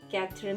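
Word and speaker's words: quatre: what is 16 said says s-e-i z-e says plus chakra kathra means four q-u-a t-r-e equal to is called 16 plus 4 20.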